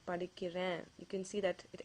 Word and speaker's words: படிக்கிறேன்: Let's take an example, and I observe that many people mispronounce this word. So let's take an example here. Let's say you want to say I am studying. You can say நான் படிக்கிறேன். நான் படிக்கிறேன். Not படிக்கிற. So whenever you say that,